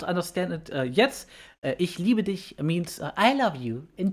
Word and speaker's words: Ich liebe dich: Ich liebe dich. Did I say it right? Yes. Ich liebe dich.